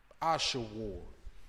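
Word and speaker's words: אשור: Ashawar in the Hebrew. That's the pronunciation in the English.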